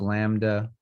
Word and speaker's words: lambda: start doing topics like this so this is pronounced lambda it's just the um lowercase l essentially for